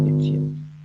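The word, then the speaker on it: Étienne: My name is pronounced Etienne.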